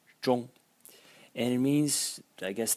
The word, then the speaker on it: 中: here, which is pronounced zhong. Has two pronunciations actually, but the more frequent one is zhong.